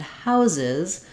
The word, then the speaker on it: houses: Mouse and mice but with house and houses uh we end up with this z sound at the end so that's just one